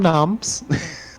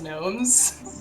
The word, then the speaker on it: gnomes: Noms is spelled the exact same way as gnomes. This is Yeah, the exact you just same pronounce way. it differently. Yeah. The G's just silent. And you take off the E at the between the S. There you go. No, the E is still there, it's just silent. There's two silent letters.